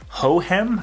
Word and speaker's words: Hohem: by a company called ho hem I think is how you say it it's pets h o h e em I'm gonna put the